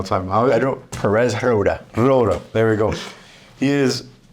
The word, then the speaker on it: Roura: Roura.